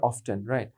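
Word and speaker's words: often: তাহলে বলেছে যে অফেন এ শব্দটার উচ্চারণ আমরা কিভাবে করব অফেন নাকি অফটেন অফেনকে চারভাবে উচ্চারণ করা যায় অফেন অফেন চারটা ভারেক্ট সো কেউ যদি অফেন বলে আর আপনি যদি বলেন অফটেন তাহলে কেউ কারো নাক ঘুষি দিয়ে ভাঙ্গার দরকার নেই everything is okay okay cushion number present কন্টিং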